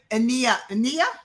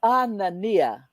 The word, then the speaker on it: Anania: Thank you, Ania. Is Ania? And then Nia. Say whatever. Right. She'll say it right. Because I've been trying. Everyone says it wrong. Everyone think they have it right. It's Anania.